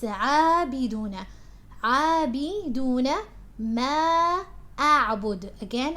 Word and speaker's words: عابدون: It's not عابدون, it's عابدون.